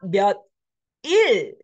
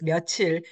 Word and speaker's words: 며칠: We already know that the final consonant will flow over, and that's why you pronounce it as 며칠.